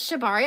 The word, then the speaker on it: Shibari: It was Shibari.